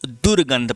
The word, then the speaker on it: दुर्गंध: समझ रहे हो ना, उच्चारण करो दुर्गंध, पहले दुर आ रहा है तो उपसर्ग के रूप में क्या होगा भैया, दुर। लेकिन दुर में रा में हलंत लगे क्योंकि यहाँ पर आधा रा है, ये पॉइंट याद रखिएगा।